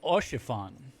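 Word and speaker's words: Haurchefant: Orchiffon.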